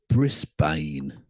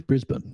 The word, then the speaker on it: Brisbane: Pronounce it correctly. Melbourne. Melbourne. Yes. And it's not Brisbane. Brisbane. It's Brisbane.